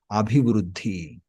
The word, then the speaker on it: అభివృద్ధి: So here the pronunciation you need to focus. Abhi-vruddhi, like that. Abhi-vruddhi. Based on the spelling, we say like that.